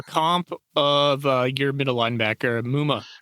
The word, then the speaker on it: Muma: of your middle linebacker Muma is that how you say his name yep Chad Muma yeah that's kind of